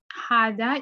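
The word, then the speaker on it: هذا: Hada is pronounced Hada, but it's written without the first alif.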